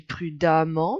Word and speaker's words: prudemment: rapidement gentiment prudemment brillamment attention on dit prudemment mais ça s'écrit prudement petit piège l'adverbe est un mot